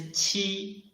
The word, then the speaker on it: qi: Ji, and this qi, when we read qi, its pronunciation is the same as ji, but it blocks the airflow in the mouth first, and then releases the block. Qi.